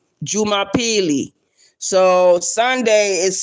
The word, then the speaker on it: Jumapili: And and how you say Sunday, you would say uh Juma Peely. Jumapili. So Sunday is spelled in Swahili.